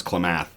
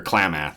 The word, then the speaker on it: Klamath: to pronounce Klamath or Klamath. I'm going to get it wrong every time. Oh, cookie. Sorry, I thought I heard Sue clacking about in there. Muth on the end, so it's like Klamath.